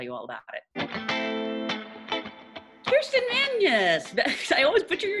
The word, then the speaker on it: Vangsness: Vangs, yeah, like Vangsness. Vangsness.